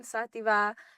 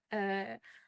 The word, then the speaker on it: Xativa: So 2nd of May at the Jazz Cafe, and I'm Xativa, spelled with an X. Xativa, Xat_IVA on socials.